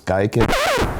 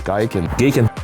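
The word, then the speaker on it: OS Giken: In this episode, we're going to be installing an OS Geiken. It's pronounced Geekin.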